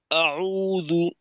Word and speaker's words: أعوذ: আউযু বিল্লাহ বলার ক্ষেত্রে আউযু বিল্লাহ, আউ, এক্ষেত্রে যে সমস্যাটা হয়, আউযু একটা শব্দ, তো আমরা যদি এমন করি আউযু বিল্লাহ, তো এই ক্ষেত্রে হামজাটা কিন্তু একটু অতিরিক্ত সময় নিয়ে নেয়। জি ওস্তাদ, বুঝতে এখানে পারছি ওস্তাদ। হামজাটাকে আইনের সঙ্গে যুক্ত রাখা, অর্থাৎ আউযু, জি ওস্তাদ।